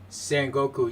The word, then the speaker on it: Sengoku: I don't even know if I pronounced it right. Sengoku, yeah, I did.